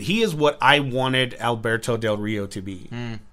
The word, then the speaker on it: Alberto Del Rio: He is what I wanted Alberto Del Rio to be. See how I said that in American? Good job. I could have said Alberto Del Rio, Uh-huh.